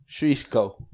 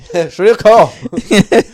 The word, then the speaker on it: Shirako: Clearly not the correct pronunciation. Okay, so if people want to spell themselves, it's SHIRAKO. Shriko.